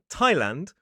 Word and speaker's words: Thailand: Well, sometimes in certain names, like places or people, that th is simply pronounced as a sound, the same sound we see in a word like talk. So, for example, in the river Thames, the country Thailand, or the name Thomas.